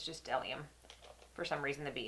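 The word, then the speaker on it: Dellium: in the front of it but it's just delium for some reason the bee is silent um I got a few of them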